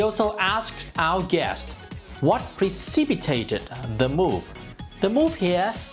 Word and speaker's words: precipitate: The verb precipitate is to make something happen suddenly or sooner than expected. This word is stressed on the second syllable.